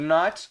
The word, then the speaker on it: know: E aqui você, mesmo tendo o K aqui, você não pronuncia I don't know. Esse K aqui é mudo, você fala no, I don't know. Então você não pronuncia esse K aqui do no.